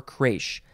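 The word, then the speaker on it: crèche: to pronounce it is it crash i think it's crash uh yes crash or creche spelled c-r-e-c-h-e with an accent on the first e okay the etymology for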